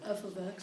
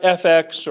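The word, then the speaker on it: f(x): say that go ahead f of x it's F ofx right it's not FX or f x x definitely not it is f ofx F ofx there we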